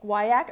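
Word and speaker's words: guaiac: guayak would win well guayak rhymes with kayak and it just sounds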